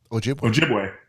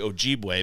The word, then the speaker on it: Ojibwe: and up in like wisconsin and canada ojibwe ojibway yup so the ojibwe tribe that's actually ojibwe but um not just hold on a minute